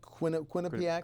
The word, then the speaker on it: Quinnipiac: The latest poll by that, I can't pronounce it, Quinnipiac? Quinnipiac, yep.